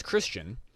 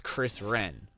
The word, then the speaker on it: Christian: oh my name is christian but he would pronounce my my name is chris wren and i actually i